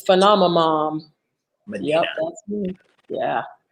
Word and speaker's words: Phenomamom: It's Phenomamom. Medina. Yep, that's me. Yeah. Phenomamom. That's a good one. Phenomamom. All right. Okay, so PHEN. OM. Yep. OMAMOM. Phenom a mom. Just like it's spelled.